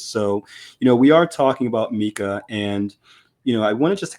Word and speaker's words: MiCA: Some people call it MiCA. I think now we in the MiCA team are winning. We prefer this pronunciation, but there's actually no official pronunciation.